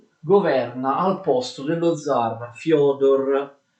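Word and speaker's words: Фёдор: si chiama Fyodor I, si scrive Fedor con questi due puntini sulla E, si legge Fyodor.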